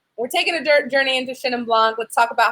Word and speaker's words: Chenin Blanc: Well, first, how do we pronounce it? Chenin Blanc.